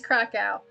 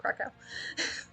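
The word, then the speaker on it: Kraków: to say anything about krakow which i'm not pronounced correctly either but that's how english people say it so that's how i'm going to say it oh god but i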